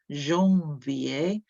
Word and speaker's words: janvier: So for janvier, janvier, that's 3 syllables, janvier.